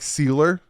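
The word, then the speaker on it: Sieler: like all right saubert Zack sealer some people say Seiler Zach sealer sealer Zach sealer and finally finally you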